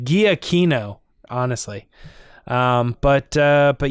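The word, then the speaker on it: Giacchino: punchy and good yeah i like michael g aquino or giotina i don't know how you say his name i know it's weird i looked it up one time right we did that on the podcast it's like guiakino honestly um but uh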